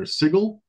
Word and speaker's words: Sigil: and yes it's pronounced sigle I'll touch on that in a second um this something that I learned like earlier this week and I've been calling it sigil for years but apparently that's wrong so anyways little background